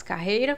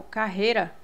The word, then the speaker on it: carreira: É tanto que você, se você falar rápido, você falar assim, ó, carreira, você nem escuta o som do I. Vou dar uma carreira, né? Quando você fala carreira, dificilmente a pessoa pronuncia o I, carreira. Fala assim, carreira, né? Você nem escuta o I direito.